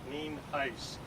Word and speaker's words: Nienhuis: It is spelled Nienhuis and it's pronounced Nienhuis.